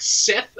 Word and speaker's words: Set: And it's basically Set is like Seth as well as another pronunciation.